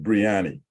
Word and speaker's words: Biryani: here either body and Biryani right that's the pronunciation pronunciation idea or body breyani it's